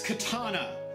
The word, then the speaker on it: katana: the TPK then it's katana katana not katana it's Japanese a is pronounced ah in general look at all those